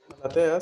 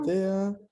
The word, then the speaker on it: Maratea: Malatea se escribe así.